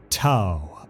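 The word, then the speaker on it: T'au: ethereal Supreme AA the T apostrophe Au Empire pronounced ta as in WoW also spelled th hu Empire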